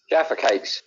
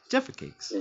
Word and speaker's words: Jaffa Cakes: cakes yeah lovely man wait how do you say them Gary Jaffa Cakes Jaffa Cakes okay just to make sure yeah Jaffa Cakes come on well see I don't want to say it like the the like you know the weird you know Americanized way Jaffa Cakes you know what I